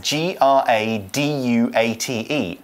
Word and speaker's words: graduate: yeah we certainly should so graduate is a noun it spelled GRA dua te a graduate so it's a little bit different in pronunciation from the verb to graduate both words are spelled in the same way and they have similar